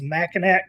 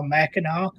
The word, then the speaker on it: Mackinac: Ranger says, Mackinac, come on now, Mackinac.